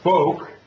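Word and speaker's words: Foq: And the third one is called FOAK. That's how I'm going to pronounce it. It's been suggested that it could be pronounced other ways.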